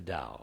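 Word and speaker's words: Tao: those though which was the da t a o pronounced the da as you know I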